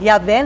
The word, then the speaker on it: Yahvé: Então, para ficar melhor, para a gente pronunciar, é que eles colocaram ali o A, né? A vogal A e a vogal E, que é Yahvé, né?